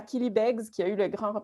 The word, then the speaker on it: Killybegs: Donc, tous les journalistes me disent Killy Blair. Et donc, je suis ravi qu'au Québec, au moins, ce mot-là, en anglais, on puisse le prononcer correctement.